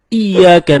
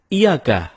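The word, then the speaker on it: إِيَّاكَ: temen-temen ketika kita membaca iyyaka nabudu wa iyyaka nasta'in ada yang membacanya dengan ia kah tidak menekan huruf Ia seperti seperti sebagaimana kita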